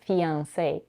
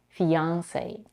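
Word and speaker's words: fiancé: way also in English the American pronunciation of this word is fiance it has three syllables and the primary stress is on the last syllable like in other French words however many Americans stress on the second syllable fiance let's talk about vowels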